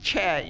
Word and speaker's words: Choi: And Choi is the name of my last name, pronounced Che in Korean, and I happened to